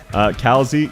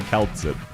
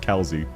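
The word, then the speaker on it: Kal'tsit: Kalzi, yeah, that's how her name's pronounced. I find it annoying as well. I used to call her Kaltzit, which was a bit... Which sounds better because that's how it reads, but it is actually pronounced Kalzi, from what I remember.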